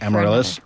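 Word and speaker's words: Amaryllis: Amarillis.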